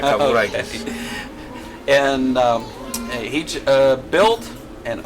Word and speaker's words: Kavarakis: Yeah, you did pronounce it right. Kavarakis.